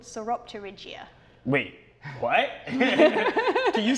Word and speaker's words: Sauropterygia: different species in this group, and it's called Sauropterygia. Wait, what? Can you say that one more time? Yeah, I'll say it slowly. So it's Sauropterygia. Oh, wow. Okay, so we have the pronunciation that's on the bottom of the screen